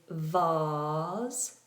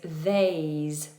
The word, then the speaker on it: vase: In England is vase. Nice open vowel. R. In America is vase. They do a diff thong. A. England is a vase. American English, a vase.